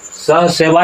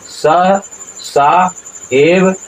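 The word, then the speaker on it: सहसैव: यहाँ पर जो सह है देख लीजिए, सह और तब सा, सह सेवा यहाँ उच्चारण नहीं होगा, उच्चारण क्या होगा, सह सा एव अभ्यहन्यंत, इस तरह से उच्चारण होगा।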